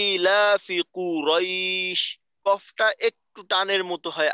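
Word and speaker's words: قريش: উচ্চারণ কিন্তু কাছাকাছি থাকবে, তো এখানে যদি আমি এইভাবে বলি কু রই তাহলে কিন্তু কফটা একটু দূরে থাকবে, তো কফটাকে দূরে রাখা যাবে না, কফটাকেও বাকি উচ্চারণের সাথে মিলিত রাখতে হবে, কুরাইশ কুরাইশ কুরাইশ, লিলাফি কুরাইশ লিলাফি কুরাইশ।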